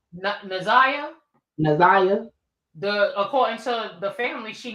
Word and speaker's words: Na'Ziyah: Because somebody chewed my ass up in the comments and said I said her name wrong. Naziah? Naziah.